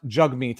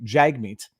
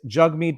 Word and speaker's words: Jagmeet: meets singh and his name his name is pronounced jug meat i have been pronouncing it improperly jagmeet it is jug mead by his own pronunciation so i'm not making